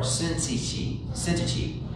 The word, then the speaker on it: Syntyche: It says, I urge Euda and I urge Suntihe to be of the same mind in the Lord. We could also do the English pronunciation, Euda or Syntyche, to be of the same mind in the Lord.